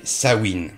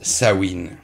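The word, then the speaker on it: Samhain: leurs fêtes ils avaient sawin et non je ne l'ai pas mal prononcé croyez-moi je suis allé vérifier C faitte s'écrit samen mais se prononce sawin ne me demandez pas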